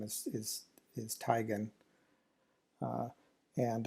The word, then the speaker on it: Teigen: similar to say the name of chris c tegan right the well-known uh model and personality internet personality uh and uh that said chrissy teigen says the actual correct pronunciation for her last name is is tygan and it's a it's based on german uh